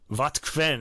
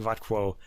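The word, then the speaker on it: Wotquenne: This is Helm 272 Wattquen. I keep saying Wattquo. I did that in an earlier episode too.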